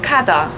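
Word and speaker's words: 가다: Man merkt schon, dass das G an diesem Doppel-Gs etwas sehr kurz und prägnant ausgesprochen wird. Als Vergleichwort habe ich dann das Wort Kada, das einfach gehen heißt auf Koreanisch, der Infinitiv. Vielleicht merkt ihr da schon den Unterschied zwischen Galgemada und Kada. Das eine wird Ga und das andere Ka ausgesprochen.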